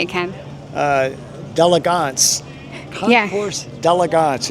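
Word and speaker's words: Concours d'Élégance: Concours d'Elegance.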